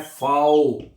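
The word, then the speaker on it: V: वी है आपका जो वी है इसको आपने पढ़ना है फाऊ क्या पढ़ना है वी को आपने फाऊ पढ़ना है एफ की आवाज में पढ़ना है आपने ठीक है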